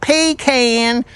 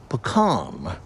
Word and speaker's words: pecan: Those who pronounce it pecan and those who say pecam."